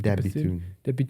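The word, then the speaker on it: De Bethune: Dabitune.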